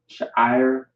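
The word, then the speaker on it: שיער: Sha'ir is how you pronounce it, which means hair in Hebrew.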